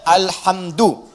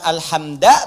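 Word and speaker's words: الحمد: Dibacaannya alhamdu, bukan alhamda pakai fathah atau alhamdi pakai kasrah. Ya, apa bacanya? Alhamdu pakai dhammah.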